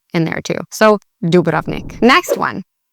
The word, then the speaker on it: Dubrovnik: Some of my family and friends, they say Dubrovnik because that's how you would read that in English. In Croatian, you put the emphasis on the beginning of the word, not the middle. So you'd say Dubrovnik. Dubrovnik.